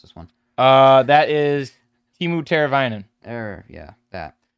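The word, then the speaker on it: Teemu Teräväinen: No, I don't know how to pronounce this one. That is Timu Teravainen. Yeah, that. Timu Teravainen.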